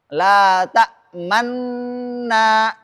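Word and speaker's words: تأمنا: Dan bacaan ini boleh ikhtilas. Di mana? Di dhammah pertama. Karena asalnya la ta'manuna. Dhammah pertama di mana? Nun, nuna. Cuma di sini dibaca 2/3 harakat.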